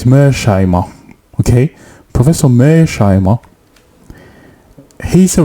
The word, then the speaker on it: Mearsheimer: So Professor his name is so difficult to pronounce, sorry, but it's Mearsheimer, okay?